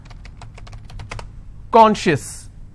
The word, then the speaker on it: conscious: Conscious. How many syllables do I have? 2. And I will stress on conscious.